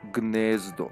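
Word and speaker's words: Gnezdo: Oh It's It's pronounced Ganzdo.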